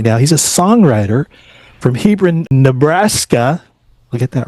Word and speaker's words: Hebron: He's a songwriter from Hebron, Nebraska.